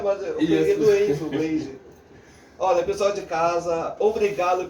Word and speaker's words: Blade: É Blade do Piseiro. Esse é o mais simples. Oficial, Blade, né? Blade do Piseiro, vai entrar lá, vai ver meu trabalho. É EI, né? É como se pronuncia. Blade.